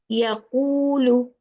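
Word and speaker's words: يَقُولُ: there is a dhamma, we pronounce it with the round lips. This will become wow mad, like yaqulu, yaqulu. See, the mouth, the lips are out, round. Yaqulu, ku, ku. Make your lips round.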